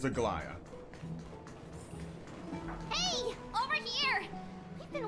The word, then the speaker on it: Aglaya: Alright, remember that the pronunciation is Aglaya.